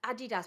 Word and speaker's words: Adidas: There's too many E's in that. Why are you putting more E's into it, Adidas, when there's no E's in the first place? There's I's, and there's another way to pronounce an I. Adidas. I don't know what the issue is. No. Okay? No, you pronounce I as yeah, I.